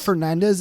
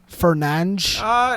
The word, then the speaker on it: Fernandes: It's not Fernandez. It's Fernandes.